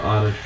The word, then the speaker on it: Oddish: Give Oddish... actually, give Bulbasaur some fighting. Because he's got Vine Whip. Is it pronounced O-Dish or Odd Dash?